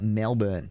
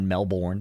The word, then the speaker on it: Melbourne: Now, I actually have two matches and uh this they both happened at Battle Arena Melbourne. I think that's how you say it. It's not Melbourne, it's Melbourne.